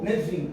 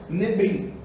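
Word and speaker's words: Nevi'im: Que alguns colocam lá, na hora que vai colocar lá, na escrita, por exemplo, coloca Nebrim, mas lê-se Nevim, tá? Outros colocam Ketubrim, mas lê-se Ketuvim. Então, é Torá, Nevim e Ketuvim, tá certo?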